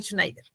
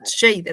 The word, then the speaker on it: Scheider: Que es el Roy Schneider. Roy Scheider. Nunca le podía pronunciar bien el apellido.